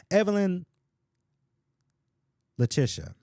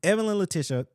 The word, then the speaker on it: Evelyn Letitia: I pronounce this right because I think I butchered it quite a few times. Evelyn Letitia. There it is. I don't know why I keep wanting to say something else. Evelyn Letitia.